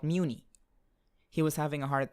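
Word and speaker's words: Mewni: of his constant talk about Muni this and Muni that. Muni. It's pronounced Muni.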